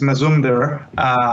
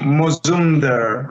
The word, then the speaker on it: Mazumdar: a typical Bengali name so in in Bengali it's most under rather than my sooner but you know it's spelled in Mazumdar in English so okay all right